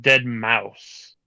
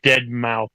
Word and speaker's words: deadmau5: super particular I well one is how you say his name the other is wrong I don't think his legal name is deadmau5 if it is I'm I no but his stage name is dead mouse that's the whole reason